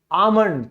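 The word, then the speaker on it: almond: जाए या आपका ऐसे आ जाए, हमेशा एल साइलेंट होगा। जैसे बादाम, तो हमारा क्या है, आमंड, तो ए के बाद क्या आया है, एल आया है, आमंड यानी कि बादाम।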